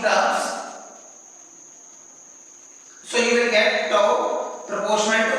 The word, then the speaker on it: tau: Torque is represented by tau, the inverted J, okay, mirrored J. So it is called tau. It is pronounced as TOW, tau.